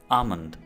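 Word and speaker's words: almond: बादाम की इंग्लिश है आमंड। यहाँ आपने एल को प्रोनाउंस नहीं करना, आमंड।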